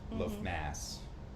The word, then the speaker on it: Lughnasadh: But That would be weird to have the first harvest celebration, like Lughnasadh, Lughnasadh, as you say it's pronounced, in February.